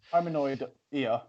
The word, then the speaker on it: Hominoidea: Go on, Anyways, hominoid ear. Hominoidea. I actually think that's how you say it.